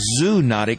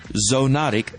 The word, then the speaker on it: zoonotic: as zoonotic diseases now that word looks like zoonotic but it's actually pronounced zoonotic diseases rabies is the best known and perhaps